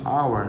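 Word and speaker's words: hour: অ্যান আওয়ার, এই যে উচ্চারণ হচ্ছে আওয়ার, নট এইচ, হাওয়ার না, আওয়ার।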